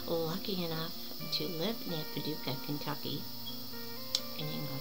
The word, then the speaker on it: Paducah: really really good and i put like five or six extra syllables in the name but it's paducah paducah kentucky so kaduka white this